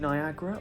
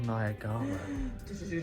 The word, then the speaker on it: Niagara: yeah it's spelled Niagara so is it Niagra or Niagara depends on who you ask yeah it's Niagara he always been Niagara and it always will be niag look at that